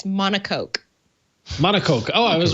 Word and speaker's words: monocoque: we'll get monocoque oh yes google says to pronounce it it's monocoque monaco oh i was right how about that